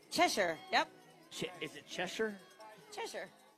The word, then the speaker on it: Cheshire: Lori tabom and at Cheshire Connecticut like a cat chesher yep is it chesher